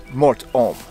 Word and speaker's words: Mort Homme: ominous nickname to it in French it's Mor om but in English it